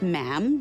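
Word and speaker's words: ma'am: and after that is just mam rhymes with jam and it's always a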